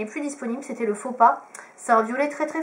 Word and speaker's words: Faux Pas: Ensuite, j'ai le faux pas. donc Fauxpa, voilà comme ça se prononce, qui faisait partie d'une collection assez bizarre.